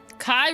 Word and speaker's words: Kai: Kai rhymes with guy.